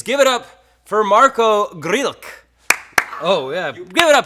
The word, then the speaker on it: Grilc: You know, the Grillisodes, Grillomentary, but the real pronunciation of your last name is Grilc. One more. Grilc. Marko Grilc. Grilc. Oh, Grilc. I forgot the T. There's a T. It's spelled Grilc. Yeah. But it's pronounced Grrreeltc.